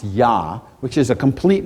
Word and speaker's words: Yah: hey which is pronounced yah which is a complete name of God when you sing or say hallelujah hallelu means praise and you're praising yah right that's what it